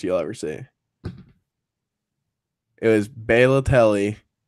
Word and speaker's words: Balotelli: It was Balotelli. Balotelli, he says. How would you pronounce it?